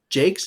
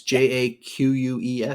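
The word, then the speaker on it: Jacques: By Brian Jakes, is that how you say his name? It's Jaques.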